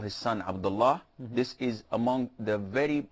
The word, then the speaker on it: Abdullah: So if you're going to pose, you have to say Abdullah, and that is it.